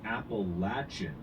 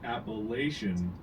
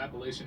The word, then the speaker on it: Appalachian: Maine to Alabama the Appalachian Mountain s if we hear you pronounce it appellation we'll throw an Apple at you while it's the Appalachian Mountains yeah and I'm just